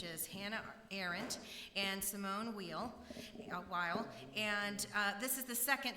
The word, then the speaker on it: Weil: I will acknowledge that I was saying the name of Simone Weil incorrectly. She is not German, she's French, but I just looked it up this morning and it's pronounced Weil, so I will say it differently this time than I said it the first time I was here with you.